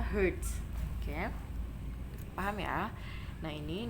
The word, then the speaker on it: Hertz: Satuannya adalah Hz, dibacanya Hertz.